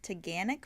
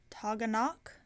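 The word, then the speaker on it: Taughannock: And we hiked to, I believe how the locals were saying it was Taganic Falls. That's not how it looks. That's not how you would pronounce it down here. It would be like Toganok, not Taganic, but whatever.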